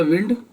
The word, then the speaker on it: wind: जो बहती हवा है उसे हमने बोला विंड, और जो कॉइल हम बना रहे हैं उसे बोला वाइंड, लपेटना, विंड और वाइंड।